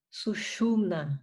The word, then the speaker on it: Sushumna: Então, não é porque tem o acento no A que a sílaba tônica é o final, tá? É Ida, então na primeira, Pingala, no Pim, Sushumna, no Shu, tá?